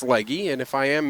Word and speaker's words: Legge: And that will bring up Hannah Legge. Legge from Cowhead, Newfoundland Labrador. It's being pronounced leg on the in-house system, but I believe it's Legge, and if I am mispronouncing that, I do apologize.